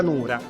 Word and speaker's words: nuda: pro quo sul termine nuda, perché nuda, così come si scrive in lingua italiana, si scrive anche in lingua siciliana, anche se poi nella pronuncia quella D diventa R per il rotacismo, però in realtà direi